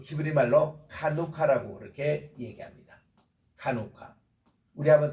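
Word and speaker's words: חנוכה: 요거는 이제 그 히브리 말로 카누카라고 그렇게 얘기합니다. 카누카. 우리 한번 따라할까요? 카누카. 하누카. 예, 우리 말로는 하누카라고 이렇게 번역하는데 요게 이제 키읔 발음이 있어요. 카누카, 약간 키읔 발음으로 하누카.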